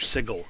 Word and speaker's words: sigil: And then he had that one episode where he's like, I've been told it's pronounced Sigil.